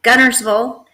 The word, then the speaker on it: Guntersville: first off can you tell us how you pronounce it so I was born and raised in Gunnersville Alabama and that's where our race is it